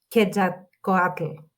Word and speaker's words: Quetzalcoatl: So Quetzalcoatl. say it again. I think Quetzalcoatl. Yeah, there you go. It's very hard to pronounce.